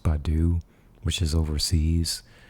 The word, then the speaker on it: Baidu: I think there's Yandex, and then I think the other one's pronounced Baidu, which is overseas.